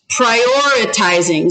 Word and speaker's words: prioritizing: Prioritizing. So it's prioritizing. So how many syllables was that? Count. Prioritizing. 5. Prioritizing. Prioritizing. 5 syllables.